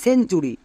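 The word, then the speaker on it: century: আর ওয়াই চুরি সেঞ্চুরি টি এর পরে যদি ইউ থাকে তখন আমরা টি এর জন্য চো উচ্চারণ করব যেমন সেঞ্চুরি এর ক্ষেত্রে আর একটি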